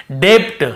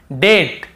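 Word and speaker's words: debt: ब को नहीं पढ़ेंगे मान लो ये नहीं होता तो हम कैसे पढ़ते डेप्ट हम कैसे पढ़ते ऐसे पढ़ते हम डे आधा ब और ट डेप्ट ऐसे पढ़ते लेकिन क्योंकि हमें बी को नहीं पढ़ना है टी के पहले तो केवल डेट डेट फिर देखिए डाउट डाउट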